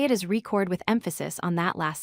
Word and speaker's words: record: The stress falls on the first syllable, re. We say it is reCORD, with emphasis on that first syllable.